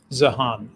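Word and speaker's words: Zeihan: I've heard it pronounced both ways, but I think it's Zihan. Zihan, okay.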